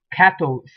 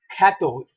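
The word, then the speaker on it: quatorze: okay now for number 14 is known as cattles cattles okay you can see that the r is not given the g importance that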